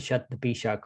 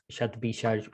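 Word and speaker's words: Shatabhishak: Then it will go into Shat-Bishak or Shat-Bishaj, whichever way you want to pronounce it.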